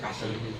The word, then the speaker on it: SCSI: Itu biasanya pakai ada pakai Saji itu kasih. Nah, tulisannya SCSI, saya bacanya kasih.